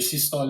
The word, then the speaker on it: systole: X-axis is basically time, divided into 2 basic parts, your systole and diastole. Systole and diastole are actually the correct pronunciations.